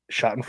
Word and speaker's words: Schadenfreude: No, Schadenfreude is a German term. It's Schadenfreude. Is it Schaden? No, Schadenfreude.